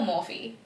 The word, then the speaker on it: Morphe: Do you pronounce it Morph or Morphe? Yeah, I say more for you.